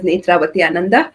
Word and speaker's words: Nethravathi Ananda: Um I would start with my name uh so my full name is Nitra Vatyanandanda. It's quite difficult to pronounce uh for everybody.